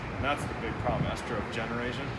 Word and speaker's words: Estrogeneration: And that's the big problem, Estrogeneration. A lot of people mispronounce the book title because they say estrogenetics or something about genetics, but which is also fine, right?